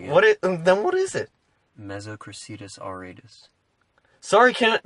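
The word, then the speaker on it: Mesocricetus: Their scientific name is, as I pronounce it, Mesoceratus auratus. Yeah, so that's completely wrong, but I'll take it. Then what is it? Mesocracetus auratus.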